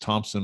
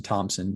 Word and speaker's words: Thomson: bit uniquely is t-h-o-m-s-o-n there's no p no silent p it's you know kind of almost almost spelled how it's pronounced you know i've always